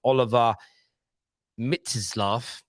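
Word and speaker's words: Oliver Mintzlaff: i'll be leipzig chief whose name is pronounced oliver mitseslav that's how i'm pronouncing it it says that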